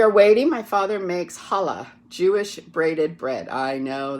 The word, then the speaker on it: challah: waiting my father makes challah Jewish braided bread I know that doesn't look like the word holla but CH is pronounced H in Yiddish or Yiddish Hebrew he lets me practice